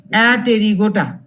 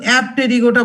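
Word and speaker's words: Apterygota: ক্লাসটাকে 2টো সাব ক্লাসে ভাগ করেছি, একটা হলো অ্যাটেরিগোটা, আরেকটা হলো টেরিগোটা। আবার উচ্চারণটা কিন্তু অ্যাপটেরিগোটা বলো না, হ্যাঁ, পি এর উচ্চারণটা কিন্তু সাইলেন্ট এখানে, APRYGOTA।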